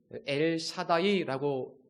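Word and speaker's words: אל שדי: 전능하신 하나님이라는 표현은 히브리어로 엘 샤다이라고 읽습니다.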